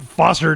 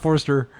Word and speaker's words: Foster: Foster, not Forster.